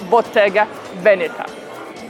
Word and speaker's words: Bottega Veneta: interesting thank you so much guys thank you bottega venita that's the way to pronounce this brand and as usual bonus section